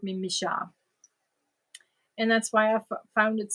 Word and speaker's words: Michaela: what's Kim's channel name mishaa is my real name mishaa which is Michaela it's spelled Michael with an a at the end and um Mi is